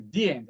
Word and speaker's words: the: Então, ali estava o filme, aí aparece the end. A pronúncia é the end, tá? Toda vez que a palavra the, T-H-E, aparecer e a próxima palavra for uma vogal, o som muda para the end.